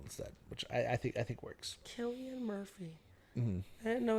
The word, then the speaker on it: Cillian: I know Cillian Murphy, I believe that's how you pronounce his name.